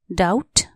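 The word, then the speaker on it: doubt: एस T trust शंका डाउट डी ओ यू बी टी डाउट यहां B silent D ओ यू बी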